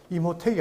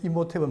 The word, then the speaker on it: 임호텝: 자, 이게 나일에 있는, 자, 임호텝이라는, 임호택이 아니고 임호텝. 영어 발음입니다. 그러니까 임호텝이라는 사람이 있었는데, 여기 비문에 기록되어 있어요. 근데 이 이집트 이야기에는 현명한 선견자인 임호텝은 바로 바로를 도와서 대기근으로부터 벗어날 수 있게 한 사람입니다.